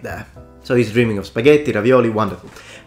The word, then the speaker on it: spaghetti: also we have the lack of the Double T we say spaghetti but nowhere anywhere in Italy will anyone ever pronounce it with a single T no one says Spaghetti it's spaghetti or spaghetti so yes Super Mario